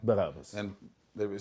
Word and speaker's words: Barabbas: Barabbas.